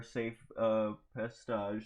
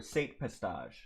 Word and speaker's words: Sate Pestage: Obviously, the Empire loses, and Admiral Galad Palian takes the remaining fleet back to the core, where Safe Pestage is pronounced Emperor. Or Sate Pestage.